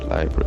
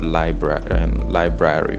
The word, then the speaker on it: library: origin of the word library. Where did we get the word library from? Actually, most people they pronounce it as library. It's actually not library. It's library. It's actually library.